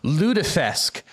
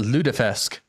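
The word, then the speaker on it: lutefisk: Ludesque. That's how you pronounce it. Ludesque.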